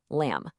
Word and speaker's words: lamb: And here's another one just like it, lamb. It follows the same pattern as words like comb or thumb. That B at the end, it's pretty much just for decoration.